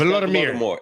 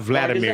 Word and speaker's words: Volodymyr: It's Volodymyr. It's Vladimir. Volodymyr. Is that right? It's not Vladimir. Mark, it's Volodymyr.